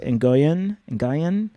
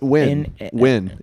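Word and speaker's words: Nguyen: name wrong but Amanda Enoyen oh is Win n g u y n that's win win.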